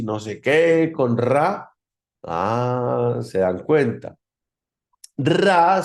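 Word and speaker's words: רע: Y el mal, obviamente, el mal se pronuncia, el mal en hebreo es ra. Ra, R-A, ¿cierto?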